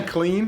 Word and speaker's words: Kalyne: I just say clean. Like if I'm gonna clean something.